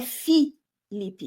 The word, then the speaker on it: Filipe: pelo nome errado, Felipe, porque o nome do Felipe se escreve com I, é Felipe e não F. E esse erro, né, colocar como f um nome que é fi, esse erro ele só